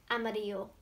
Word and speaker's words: amarillo: The L's actually mean Y in our language, so it's amarillo.